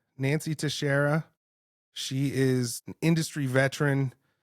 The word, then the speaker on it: Teixeira: give us your origin story absolutely so Nancy Tara is absolutely the right pronunciation I will go on the record as